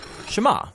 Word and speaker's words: Shema: Now, the first word of the Shema is hear, or listen, which in Hebrew is pronounced Shema.